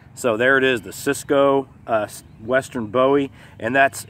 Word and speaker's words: Szco: there it is the Cisco western bowie and that's it's it's pronounced Cisco but it's spelled s